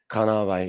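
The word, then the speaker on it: Kānāwai: We come to time is that kanavai, is that how you say it? Kanawai, yeah, It Kanawai.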